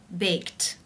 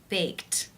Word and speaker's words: baked: you pronounce this word the final sound of the verb in the infinitive form to bake is the K sound it's unvoiced therefore the IDI is pronounced unvoiced with the T sound baked baked how do you pronounce